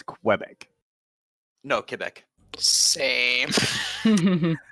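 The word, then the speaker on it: Québec: I noticed you say Quebec Quebec yeah and we are getting taught it's Quebec no Quebec same like here's here's the thing here's the thing in English Quebec is okay in French it's wrong I speak French this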